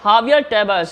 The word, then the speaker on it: Javier Tebas: Yeah, Javier Tebas. I hope I'm pronouncing his name right.